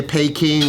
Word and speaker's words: Beijing: if they say like the old English way pay king or Bay jeez whatever I